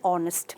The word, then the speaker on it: honest: becomes a university likewise there is a consonant uh letter there H but it is silent and it is there therefore an honest man is he an